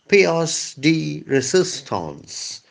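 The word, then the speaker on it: pièce de résistance: t a n c e but the French pronounce it as PSD resistance PSD resistance it's one of my favorite French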